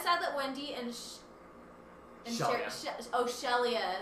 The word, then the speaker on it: Sheria: Shelia. It's spelled Sheria, but apparently it's pronounced He says Shelia.